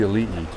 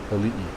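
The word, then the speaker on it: aliʻi: Elite spelled A-L-I-I. Elite. Whenever you see an I, it's always pronounced E. And whenever you see an E, it's pronounced with an I.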